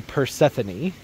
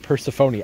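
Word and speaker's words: peony: great option for you this is the pany I said it right aren't you proud of me I finally said it right in all the garden tours I call it peropon I don't know why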